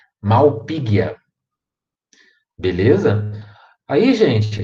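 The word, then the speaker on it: Malpighia: também temos o gênero malpighi né só tem g h o som é de gui também malpighi a a beleza aí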